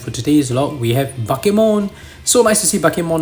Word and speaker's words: Bakemon: just an English speaker when you see b a k e you think bake cuz you're like you